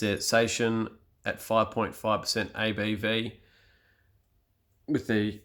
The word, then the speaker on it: Saison: Saison, French Saison in quotation marks, which is a French pronunciation, is a pale ale that is highly carbonated, fruity, spicy, and often bottle conditioned.